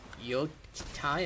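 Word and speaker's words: Yōtei: ghost of shishima sequel y Tai I believe it's pronounced but the sequel and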